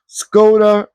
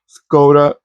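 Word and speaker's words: Škoda: It's like the sportier edition of the Skoda. Let me make sure I pronounce it correctly. They told me that it's like an SH type of pronunciation in the first part of the.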